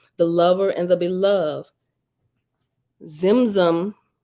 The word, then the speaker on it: Tzimtzum: Zimzum, I'm sure the T is silent, Tzimtzum, Zimzum, self-constricted to make